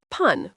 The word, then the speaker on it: pan: Hoặc pan, phát âm giống như từ tiếng Anh "pawn", nghĩa là bánh mì.